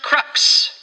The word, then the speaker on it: crux: It's pronounced crux. No T at the end.